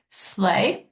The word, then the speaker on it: sleigh: the word sleigh, because it doesn't sound how it is spelled. It has a lot of silent letters in it. So I would split it up into 3. S-L-E-I-G-H. The G-H is hard because you cannot hear it at all.